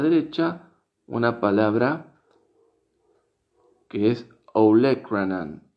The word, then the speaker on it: olecranon: Y a la derecha, una palabra que es olecranon, olecranon, olecranon, olecranon, que en español se escribe igual pero con un acento en la E, olecranon, olecranon.